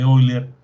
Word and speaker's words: Euler: Se pronuncia Euler en francés.